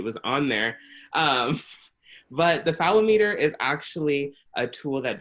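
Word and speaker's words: phallometer: And how do you pronounce that? Is that Oh, fallometer.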